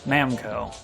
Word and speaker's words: Namco: called Goro Awase, and the numbers 7, 6, and 5 are pronounced as Na, Mu, and Ko, respectively. Namuko. Namco.